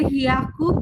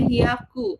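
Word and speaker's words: 百: Nah, kalau dia 100 itu ada hiaku, biaku, sama piaku. Tergantung kalian tuh penyebutannya tuh mau di angka berapa gitu ya. Kalau dia 100 biasa dia pakainya hiaku.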